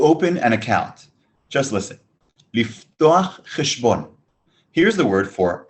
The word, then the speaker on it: לפתוח: Liftoach. Toach. Toach. Lif. Liftoach.